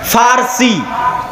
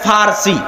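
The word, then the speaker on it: فرس: আরেকদিকে পারস্য পারস্য মানে ফারসি বাংলায় বলে কিন্তু ওটাই আরবিতে আছে ফারসি ফুরস কেন আরবিতে পর কোন উচ্চারণ নাই আরবিতে পর কোন উচ্চারণ নাই সেটা আমরা পারস্য বলতেছি ওটাই আরবিতে বলে ফুরস ফার্সি যারা ফার্সি ভাষায়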